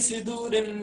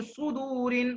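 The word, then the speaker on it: صُدُورِ: मुंह को राउंड करना है पूरा, फी सुदूरिन, सुदूरिन फी सुदूरिन नहीं, नास। आप फी सिदूरिन पढ़ रहे हो, आप कसरा जैसा पढ़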